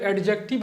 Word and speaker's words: adjective: एडजेक्टिव हम पढ़ते हैं एडजेक्टिव प्रोनंसिएशन गलत है डी साइलेंट है लिखाए एडजेक्टिव लेकिन पढ़ाए एडजेक्टिव सॉरी हा खाएगा एडी ज और य डी साले रता पढ़ेंगे एडजेक्टिव नहीं यह होती है सही प्रन एडजेक्टिव लिखा जाता है डी